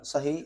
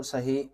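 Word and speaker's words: Sahih: So in that hadith there are few books and in these books there is a writer uh Sah Abu Dau. So it is spelled s a h i h s a h i h.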